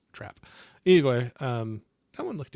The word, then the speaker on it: Trap: think those were oh I guess I mispronounce but that one with Josh Hart and had it's just trap I I think I was saying trapped but trap anyway um that one